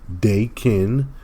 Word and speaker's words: Daken: heal when his skin is destroyed uh you pronounce his name Dakin now also uh Dakin has been brought back